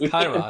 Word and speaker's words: Kairos: I want to make sure I'm pronouncing that right. So it's Kairos.